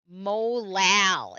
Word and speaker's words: molal: 0970 divided by 0.5 gives us 0.194 molal is how you say that.